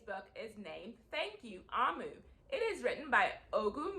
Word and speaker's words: Omu: A note to the reader or the listener, Omu is pronounced Omu.